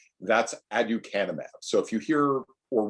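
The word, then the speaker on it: aducanumab: many of us spent years learning how to pronounce uh before the brand name came out and was easier to say that's adukanema so if you hear or read about adukanymab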